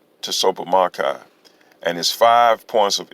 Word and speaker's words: Tsopahmocci: conclusion approach issue considerations to soap pomocai t-s-o-p-a-h-m-o-c-c-i pronounced to sopa makai and his five points